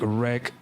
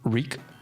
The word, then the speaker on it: wreak: Um, and just like wreck some havoc over here. Although Dr. Nasi told me that it's actually pronounced wreak havoc.